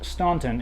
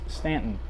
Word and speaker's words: Staunton: Now here in Staunton, Virginia, they do have the U, but it is not pronounced Staunton, it is Staunton.